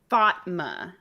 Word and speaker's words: Fatma: one quick thing um she's saying it's pronounced Fatma like duh just just as